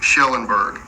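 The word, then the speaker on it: Kjellenberg: known as Suzanne Schellenberg it's spelled KJ but it is pronounced sh Schellenberg her family obviously wants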